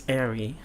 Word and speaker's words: Eiri: It's Eiri. So, it is Japanese. So it's Eiri, Eiri.